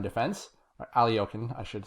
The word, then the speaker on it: Alekhine: to experiment a bit so this is the alicon defense or aliyon i should say and um i get a